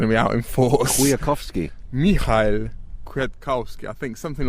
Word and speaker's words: Kwiatkowski: The Polish pronunciation police are going to be out in force. Kwiatkowski. Michał Kwiatkowski, I think, something like that. Something like that. I should know this. Kwiatkowski, I see.